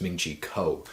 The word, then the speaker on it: Ming-Chi Kuo: Cecil Andrus not sure I can establish else's name wrong again it's ming-chi kuo all right so very first thing is saying